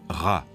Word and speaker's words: Ra: En haut, c'est le disque du soleil, et Champollion sait qu'en copte, il se prononce Ra.